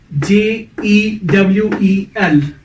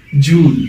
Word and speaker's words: jewel: So these 6 words are today's topic, how we pronounce these 6 words. So first word is JEWEL. हम jewel बोलते हैं, मैं jewel बोलता हूँ, but it's a wrong pronunciation.